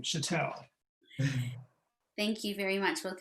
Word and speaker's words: Schattel: i pronounce chatel patel i will tell you how to pronounce my name chatel thank you very much